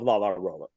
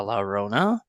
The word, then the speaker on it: La Llorona: The Oh, Haunting of La La Rolla. La La so Rolla. See, I'm saying it wrong. wait, you didn't Well, watch Haunting of La La Llorona? You This is watched what The we're Curse of La Llorona.